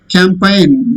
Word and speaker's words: campaign: Campaign. During election season, political leaders campaign. Pracharam cheyadam. G is silent.